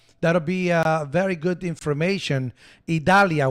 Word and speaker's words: Idalia: Idalia, we call it Idalia. In Spanish, it's Idalia. And yeah, people call it Idalia and blah, blah, blah. But I call it Idalia.